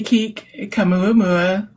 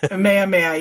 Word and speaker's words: Kamehameha: I'm assuming that's how that's pronounced, which is the Hawaiian word for help, and promoting K6K, the Kik Kamuamua. Yeah, celebration. King Kamehameha. Kamehameha, yeah, sorry.